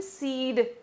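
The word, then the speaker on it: cede: सीड ground, ठीक है, ये एक फ्रेज है, द वर्ड इज सीड, ठीक है, इसका प्रोनाउंसिएशन सीड है। ठीक है, सीड ग्राउंड मतलब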